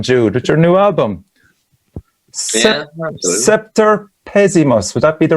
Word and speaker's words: Semper Pessimus: Semper Pessimus. Would that be the right pronunciation? Pessimus. So Semper Pessimus is Roman Latin, and it means the worst ever.